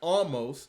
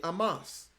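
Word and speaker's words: Omos: Oh, apparently, almost we've been pronouncing his name wrong this whole time, so it's not, or it's Riddle's fault. That doggone dope fiend got us saying almost when it was really Amos.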